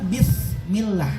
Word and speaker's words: bismillah: Ustaz saya teh ngomong s t lebih senang bismillah itu Mat ta padahal Sin Ibu ingat ya